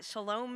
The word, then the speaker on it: shalom: that first one is sanskrit pox is latin shalom is hebrew and it means peace or wholeness